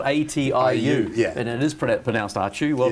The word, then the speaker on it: Atiu: atu have you been you actually pronounce that very well a lot of people can't it's called atiu yeah and it is